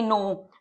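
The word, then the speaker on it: know: Question mark do they नो डू का लोगोग्राम इस तरीके से ऑन द लाइन होता है दे दे नो द नो के की साइलेंट है तो इसे हम अवॉइड करेंगे।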